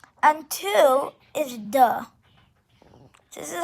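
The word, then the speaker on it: deux: and it's spelt u n and two is duh this is how you spell it d e u x but remember in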